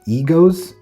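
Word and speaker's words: EGOWZ: So, this is the PC Creative Assembly Frame Test bench, and it's from a brand called Egos. EG O WZ is, I guess, how you'd pronounce it.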